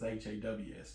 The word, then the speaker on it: Hase: Haws. Okay. Okay. And it's Hase, but it's pronounced as Haws.